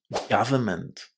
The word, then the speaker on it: government: It's gav with a short a. Government.